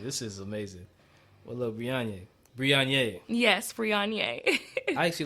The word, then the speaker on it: Brionya: So I think she just added the A on there, but it's supposed to be pronounced Brionya.